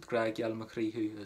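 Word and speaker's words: Grá geal mhuirnín: Very, very popular to say Gradh geal mhuirnín, and that's the way that I would pronounce it, Gradh geal mhuirnín as well.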